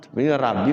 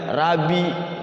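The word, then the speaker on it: رَبِّ: Jadi rnya tafkhim rabbi awas ada tasyid ya. Tasyid itu ee cara bacanya sukunkan dulu rabbi. Jangan rabi atau rabbi.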